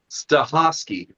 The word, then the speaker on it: Stachofsky: Staski. It's very interesting. I was not going to try to pronounce that.